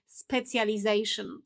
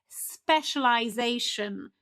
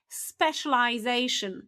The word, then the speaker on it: specialization: So, we are tempted to say specjalization, okay? But actually, now the proper pronunciation is specialization. Repeat after me, specialization. Spe- cial-i-za-tion, okay?